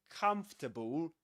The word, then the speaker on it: comfortable: So you will actually say this comfortable comfortable and you don't pronounce this one.